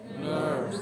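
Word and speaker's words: NURBS: N U R B. S. Dibacanya Nerves.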